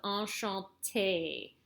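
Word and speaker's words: enchanté: kind of remember but whenever you see this e with the accent that goes like this what's called a goo you don't have to worry about that now it's pronounced like the letter a so enchante that's where you hear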